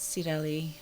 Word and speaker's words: Cirelli: actually my husband's idea cirelli is an armenian word pronounced sireli and it is like